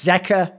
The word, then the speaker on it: Zeka: just explains that here's a good one it's Zea he even explain fake T1 fan actual person